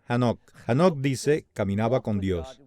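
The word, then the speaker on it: Hanokh: hemos hablado de hanoi según como pronuncie su nombre en hebreo es a nok nos dice caminaba con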